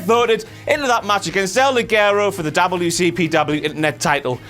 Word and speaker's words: El Ligero: El Ligero, El Ligerio, El Ligero now. Just call him Eddie Guerrero. Why the f*** not? El Ligero, that's how you say it.